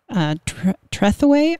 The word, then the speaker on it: Trethewey: This came out in July of 2020 by Natasha Trethewey, I think is how it's pronounced, mm-hmm, Trethewey.